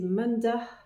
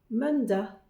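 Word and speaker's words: mandag: semaine on commence par lundi manda c'est un peu comme le m avec un petit peu le N qui se prononce Man et ensuite c'est da il est pas un a clair c'est pas manda c'est manda on le on le fait un tout petit peu continuer manda man da manda ensuite il y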